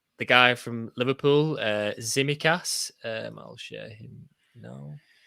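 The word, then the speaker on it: Tsimikas: yeah i've just been looking at um how people pronunciating it across different podcasts and that zimmy cath seems to be the the one that people are going for so we will with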